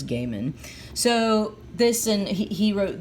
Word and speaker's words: Gaiman: Neil Gaiman, sorry, and John Romita Jr., there was discussions on how to pronounce his last name, and I think the consensus was Gaiman.